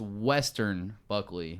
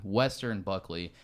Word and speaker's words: Weston Buckley: to pronounce his name if you look him up it's Weston Buckley but it's pronounced Western Buckley Western Buckley this kid [ __